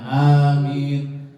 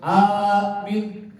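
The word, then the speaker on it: آمين: Amin, bukan amin, salah juga. Atau amin, salah. Atau amin, iyalah itu mah dikit amat ya. Jadi yang benar amin begitu.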